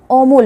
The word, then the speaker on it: অমল: এর মতনই হচ্ছে কিন্তু ম ওকার না থাকা সত্ত্বেও আমরা ওকারের মতন উচ্চারণ করছি অমল আবার লতেও অকার রয়েছে কিন্তু সেখানে হসন্তের মতন উচ্চারণ হচ্ছে।